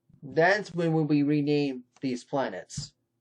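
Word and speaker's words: planète: french planet planet okay the e is silent in french now let's get to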